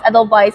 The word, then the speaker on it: Edelweiss: The spelling is W, Edelweiss, but the pronunciation is Edelweiss because it's a German name.